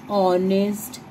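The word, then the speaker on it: honest: अब कुछ ऐसे वर्ड्स होते हैं जो स्टार्ट तो एच से होंगे मगर उनमें आवाज एच की नहीं आती, जैसे कि ऑनेस्ट।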